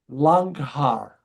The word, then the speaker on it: Langhaar: Um The German words are Deutsch Langhaar. Deutsch Langhaar. And I'll spell that, l a n g h a a r.